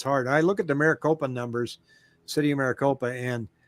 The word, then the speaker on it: Maricopa: buying a new build and you got to pronounce that city for me maricopa stacey maricopa there's some nice new builds down